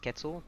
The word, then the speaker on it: Quetzal: you want to call it it's actually properly pronounced Quetzal but what do I know but anyways I'll